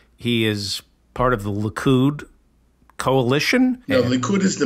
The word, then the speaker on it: Likud: You said the Likud coalition.